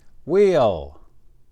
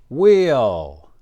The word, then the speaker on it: wheel: We don't pronounce the H.